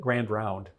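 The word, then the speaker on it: Grand Ronde: knew her lineage on the reservation that it's pronounced it looks like it's it's called Grand R but everybody called it Grand round in Oregon so on the grand round reservation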